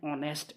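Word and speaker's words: honest: में प पढ़ा था जो एन है वो हमेशा वावल साउंड के साथ इस्तेमाल होगा या वो उसके साथ इस्तेमाल होगा जिसमें एच जो है वो साइलेंट होगा ठीक है जिस तरह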